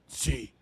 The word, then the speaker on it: Qi: It's spelled Qi, but it's pronounced CEQ, Chi.